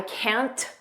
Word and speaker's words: can't: pronunciation I can't notice we don't push out that T I can't just don't push it out I can't May kit